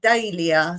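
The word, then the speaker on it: Dahlia: Now, a lot of Europeans say Dalia and my Australian friends say Dalia as well, but in England, I'm pretty sure we've always said Dalia.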